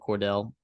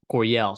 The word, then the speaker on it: Coryell: And when you run a system like Sean Lewis, right, the Eric Cordell or Coydell, however you say that, Coryell, sorry, that's how you say it.